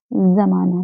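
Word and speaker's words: ज़माना: हैं, बोल देते हैं अरे जमाना बहुत खराब चल रहा है। क्या ये अच्छा लग रहा है सुनने में? बोल दिया आपने, सुनने वाला सुन भी ले रहा है, लेकिन सही उच्चारण आप नहीं कर रहे हैं। सही है हमारा उच्चारण जमाना।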